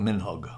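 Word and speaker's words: מנהג: One thing is what's called minhag, a custom. Minhag is how you say it in Hebrew.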